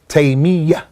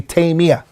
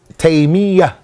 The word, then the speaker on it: Taymiyyah: And actually, Ikhwani, some of the scholars said that the correct way of pronouncing his name is Taymiyyah, with a shadda on the ya. Many people make it with takhfif and they say Taymiyyah. The correct way is Taymiyyah.